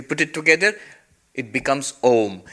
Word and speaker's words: Om: wrong in Sanskrit grammar when you have ah and U together with the rules of sandhi it becomes o so actually when you